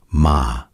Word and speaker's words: 間: It is written like this and it is pronounced ma.